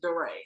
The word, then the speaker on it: DeRay: actions words the mayor of baltimore it's my deray yeah well he don't go by d-ray he said his name is durray so give me that